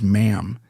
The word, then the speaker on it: ma'am: She reportedly relished being addressed as ma'am and went so far as to mock those who failed to pronounce it correctly, insisting that the word rhymes with spam, not harm.